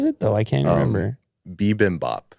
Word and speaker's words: bibimbap: though i can't remember bibimbap bibimbap and i said bimbap or something boom baby yeah uh